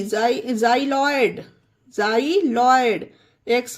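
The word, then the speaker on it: xyloid: ये देखिए एक्स वाई एल ओ आई डी जाइ लॉयड जाइ लॉयड एक्स को जा पढ़ा गया उसी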